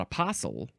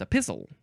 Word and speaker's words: epistle: It's not apostle, it's epistle.